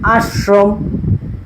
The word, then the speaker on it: আশ্রম: আসবে, দেখো আমরা কি কখনো বলি আশ্রম, বলি আশ্রম, মানে তালুবাসক একটু গাঢ় না উচ্চারণ, যখন বলি একটু কি হয়, মানে হাস আর আশ একরকম, উচ্চারণ একরকম না।